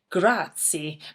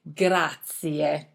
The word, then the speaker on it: grazie: some movies before, but be careful when you pronounce grazie. You need to put emphasis on the last letter, I. Grazie. I know sometimes it's a bit tempting to say grazie, but actually Italian people say grazie.